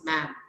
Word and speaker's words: madam: I am going to write MADAM, okay, but I am going to pronounce ma'am.